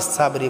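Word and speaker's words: صبر: পড়বো এখানে অনেকে আছি আমরা সাউবি সাবরি বলি সাউবিস বললে এখানে সিন উচ্চারণ হবে এখানে উচ্চারণ করতে হবে মোটা করে উচ্চারণ করতে হবে টাকে আমরা এক আলিফ টানে পড়বো টাকে আমরা মোটা করে উচ্চারণ করব সব সব এখানেও আমরা টাকে মোটা করে উচ্চারণ করব এবং রাটাকে আমরা সাকিন করে পড়বো সবর তো প্রিয় বন্ধুরা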